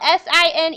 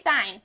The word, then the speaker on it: sine: whole word it's spelled s i n e we abbreviated s i n we do not say sin we say sign I will correct you if you say sin it is sign okay cosine c o